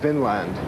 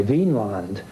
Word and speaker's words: Vinland: Now, this has been a controversy in scholarship ever since because people want to, in modern days, see it as V-I-N with an accent on the I, Vinland, meaning land of wine or land of grapevines.